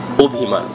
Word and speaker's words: অভিমান: যেমন আমরা লিখে থাকি অভিমান, কিন্তু উচ্চারণ করতে হবে অভিমান, কারণ অ-এর পর রস্বই আছে।